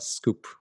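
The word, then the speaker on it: skwp: find me on Twitter s kwp pronounced scoop s kwp what is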